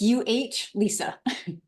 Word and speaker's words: Elisa: It's pronounced Lisa, like you're trying to think of someone's name, like Ben. It's UH Lisa. Elisa.